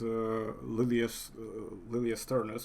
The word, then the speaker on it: Liliensternus: Well, since you've mentioned Lilia Sternus, well, it's actually supposed to be Lilia Stern. I think more German pronunciation, because obviously Ah, okay. both. No, no, I mean Latin and English pronunciation would be Lilia Sternus, but it's like it makes my tongue wanna twist towards saying it in a German way because there's just so